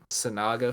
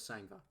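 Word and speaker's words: Kodai Senga: You see Sanaga for the Mets. I think that's how you pronounce it.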